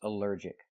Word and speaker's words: allergic: Allergic is three syllables, allergic. The stress is on the second syllable. Allergic. Allergic. Here the a l l is not pronounced all, but pronounced uh, like in cup and up, because it's not stressed.